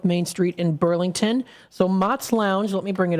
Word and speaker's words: Mott's: Mott's Lounge.